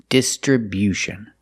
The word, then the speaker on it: distribution: this word is distribution we move the stress to the first and third syllables the first syllable dis distribution and the stress on the third syllable too with View distribution stress only first and third syllable and remember it's not distribution it's distribution make that u sound after the B distribution this is a